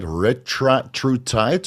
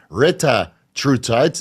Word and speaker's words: retatrutide: And as a quick reminder, it's not retraut tight, which I kept saying in the video.